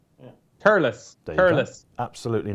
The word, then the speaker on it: Thurles: And pronounce it as though it's spelled Turlis. Turles. Yeah. Turles. Turles. Absolutely not that. You just don't pronounce TH at all, though, do you?